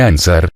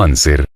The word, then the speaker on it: anser: la historia de ansar no se dice ansar sino anser clamaba prono pero el